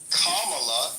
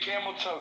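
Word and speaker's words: Kamala: to and your and your girl kamla that's how you say her name check out thank for saying right Michael wow I app I appreciate you saying Camelo correctly yeah yeah research the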